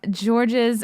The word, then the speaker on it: Georges: One more question here from George's. I know I'm saying your name wrong. Ask him about when he almost got whacked. The S is silent. French name.